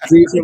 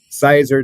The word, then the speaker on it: Caesar: Yes, Caesar like the salad. We've heard everything from Sizer to scissor to sister to, you name it.